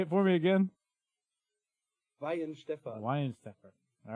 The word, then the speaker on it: Weihenstephan: Weihenstephan.